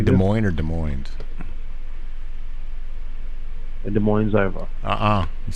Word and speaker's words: Des Moines: right yeses are silent both s's are silent you don't use the S at all on either word both on the first